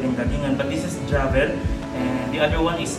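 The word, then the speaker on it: Diavel: And this is the Diablo. Paano ba yung pronounce ko, sir? Javel.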